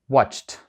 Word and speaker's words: watched: також пом'якшують наступну літеру ді в кінці вона звучить як т watchт і і взагалі